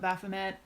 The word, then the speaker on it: Baphomet: most of the time people in America here we'll call it Baphomet it doesn't offend me or anything but it is a French word so I think bothame is probably closer and who we are